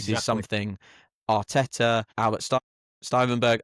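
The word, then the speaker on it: Stuivenberg: something Arteta, Albert Stuyvenberg, I never say his name right, Stuyvenberg, I think Stoiberg, I believe. Yeah, yeah. It took me a long time to nail that.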